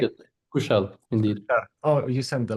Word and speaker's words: Kushal: So, Kushar, if you Kushara, yes, am I saying it right? Yeah, Kushal, indeed.